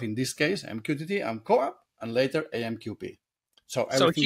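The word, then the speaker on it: CoAP: You know, how do you pronounce co-op in English? It's this way, co-op? Yep.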